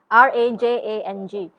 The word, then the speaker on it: Rajang: question okay longest river in malaysia richard yes r-a-j-a-n-g some people pronounce it but the official name is rajang